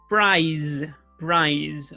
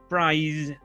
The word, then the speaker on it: prize: For example, the words prize, okay? This word, prize. okay? This means premio, right? And you need to pronounce the Z sound, Z.